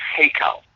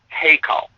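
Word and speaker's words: היכל: it's actually it's an Aramaic word and it's pronounced heo heo and and h e y k a l heo all right now this word means a palace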